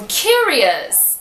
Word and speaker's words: curious: E a mesma coisa com curious. Curious. E dangerous. Dangerous. Então presta atenção. Se você vê a palavra com O-U-S, você sabe que o som é de us.